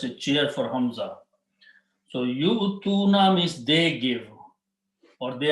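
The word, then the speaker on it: يُؤْتُونَ: So this will become yu'tuna, ya with the dhamma, and hamza with the sukoon, and tuna. This waw is written there, it is not pronounced. This is just a cheer for hamza. So yu'tuna means they give, or they are giving.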